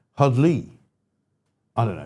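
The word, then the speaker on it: Heddlu: So I think actually it looks like hedlw, but I think you pronounce it hudley.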